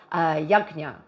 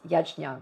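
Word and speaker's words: यज्ञ: explored in depth called yagna otherwise pronounced as yajna both of them are correct so yagna it means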